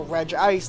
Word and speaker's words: Regice: Regice. Reg. Reg Ice. No. I'm pronouncing it as G ice.